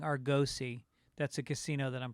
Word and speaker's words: Argosy: his name Bob Patterson says Argosy does not have a long o sound I've been saying Argosy that's a casino that